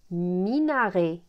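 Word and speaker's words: minaret: toate ma minaré minaré ici le T c'est une lettre muette on la prononce pas minaré mi marteau marteau ma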